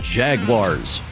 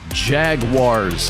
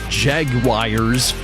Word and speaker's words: Jaguars: The NFL team in Jacksonville, it's pronounced Jaguars. Jaguars, not Jaguars. There's no I in Jaguars.